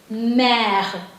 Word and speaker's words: mère: So par exemple, this is mère. M is m. This is a, R is h little bit, and this is E is a silent letter. Okay, it is mère.